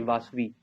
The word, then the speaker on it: Vasavi: Sir spelling बता दिए। AR वासवी, VASAVI, वासवी, वसावी।